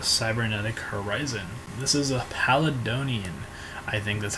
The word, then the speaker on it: Palladion: out of a cybernetic horizon this is a pallid Dhoni and I think that's how you pronounce it Pal Jim no paladin I'm sorry it's a new archetype coming out